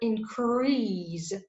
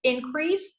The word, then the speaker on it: increase: If we have the word increase and that's a noun, the stress will be put on the first syllable. But if the word increase denotes the action, it will be the verb So the stress will go to the second syllable. So increase, noun, increase, verb.